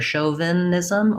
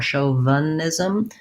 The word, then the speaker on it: chauvinism: the same first syllable and first syllable stress, chauvin. And then we have a lax I, or even maybe a schwa, either chauvinism or chauvinism. So you might have it kind of like the, and then ism has our I vowel, chauvinism.